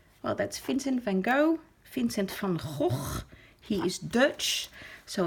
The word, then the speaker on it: Vincent van Gogh: that's Vincent van Gogh Vincent from HOF he is Dutch so if you pronounce it in the Dutch way the correct way it's Finn sent from oh now try that one